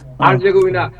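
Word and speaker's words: Herzegovina: Bosnia একটা চমৎকার নতুন রাষ্ট্র, বসনিয়া হার্জেগোভিনা, কি উচ্চারণটা কিভাবে হয়? হার্জেগোভিনা।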